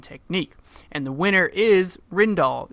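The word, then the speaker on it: Rijndael: and the winner is Rindell it is pronounced Rendell algorithm and it became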